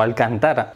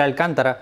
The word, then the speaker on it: Alcántara: o al cantar porque esto es algo que en españa se suele decir alcántara por culpa de cuéntame pero creo que es alcántara no sé creo que es con acento en la segunda a al cantar cuestión esto alguno